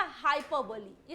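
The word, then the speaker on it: hyperbole: हाइपर बोले कुछ लोग बोलते हैं, कुछ लोग और बोलते हैं, तो हाइपर बोले कोई टर्म नहीं होगा, क्या होगा, करेक्ट प्रोनाउंसिएशन हाइपरबोली होगा, राइट। हाँ भाई, बहुत सारे लोगों की टीचर पढ़ाती है बोले शोले गोले, तो हमको नहीं करना है ना, याद रखना है हाइपरबोली करेक्ट प्रोनाउंसिएशन है।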